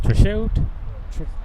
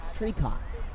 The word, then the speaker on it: Truchot: I've been pronouncing his last name wrong until today. What were you saying, Truchot? Treacock. Oh, Treacock. Maybe we should go up to him and say, Mr.